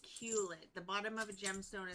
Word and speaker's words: culet: It's pronounced culet.